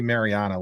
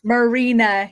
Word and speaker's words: Marina: I want to say I always want to say Mariana which I know that's wrong uh so Marina yeah Marina I mean